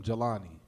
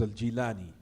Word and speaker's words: al-Jilani: They call him Jalani. They say here in America, Jalani. The correct way to pronounce it is al-Jilani, because he was from the town called Jilan.